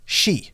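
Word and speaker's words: 四: even cursed in japan four in japanese can be pronounced the same way as death shi because of this there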